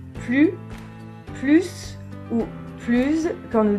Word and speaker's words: plus: façons de le prononcer plus plus plus quand l'adverbe plus un sens positif il faut donc prononcé le s à la fin dans ce cas-là plus